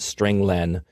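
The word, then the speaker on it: strlen: appears at line nine i pronounce it string len because it means string length it returns the number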